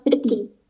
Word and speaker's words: petit: Lanjut yang kedua itu tulisannya petit itu dalam bahasa Perancis artinya small atau kecil tapi huruf T terakhirnya itu enggak dibaca. Jadi cuman peti peti.